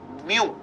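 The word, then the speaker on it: μ: second dependent Force third mass per unit length mu of the string can you see the symbol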